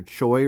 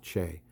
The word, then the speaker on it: Choi: you think that that says major Choi right there but if you've ever been to Korea or you have a Korean girlfriend or husband or wife or relative you know that that is typically pronounced Che so uh it says